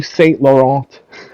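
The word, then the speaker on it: Saint Laurent: you call it ye Staint Laurent I probably butchered that name the T silent AREN'T YOU CANADIAN HE'S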